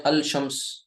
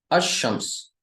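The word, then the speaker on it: الشمس: इसको तो आपने अल कमर पढ़ दिया, इसको आप पढ़ें अल शम्स, गलत हो जाएगा, कहा जाएगा आपको अरबी नहीं आती। पता ये चला कि यहाँ पर शीन जो है उस पर शद लग गई और ये लाम साइलेंट हो गया। लाम जो है वो क्या हो गया? साइलेंट हो गया। ये नहीं पढ़ा जा रहा है।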